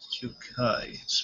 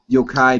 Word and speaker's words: Yokai: off this uh uh a it's hard to pronounce his name well Japanese I believe it's Yokai yeah it's yukai trying to think of name is here oh